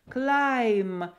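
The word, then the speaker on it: climb: кола ему взбираться карабкаться обратите внимание что буква by который на конце не читается клайв клайв взбираться карабкаться ай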